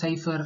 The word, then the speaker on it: cipher: அதாவது நல்லா கவனிச்சிங்கன்னா இது வந்து சைஃபர் அப்படின்னு தான் நம்ம சொல்லணும், சிப்பர்னு சொல்லக்கூடாது. பிஹெச் வந்து சைலண்டாக ப்ரொனவுன்ஸ் பண்ணணும்.